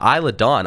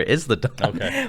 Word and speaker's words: Isa Dawn: while and then uh Isa Dawn I was saying her name wrong last week I was calling her is the dawn but so you know